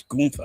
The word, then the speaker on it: Gunther: It's not Gunther. It's Ga. That's what I've been saying. I mean, if you want to be real technical with how you say it, you don't pronounce the H either.